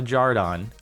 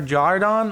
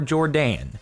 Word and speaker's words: Jordan: spelled my name wrong it's not a jar Donn okay the options are jarred on or Jordan not or dawn is not know my